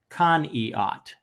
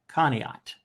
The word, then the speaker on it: Conneaut: city Rick great question I pronounce the city like it's supposed to be pronounced as the French Canadian Indians did Conneaut Conneaut so yeah good question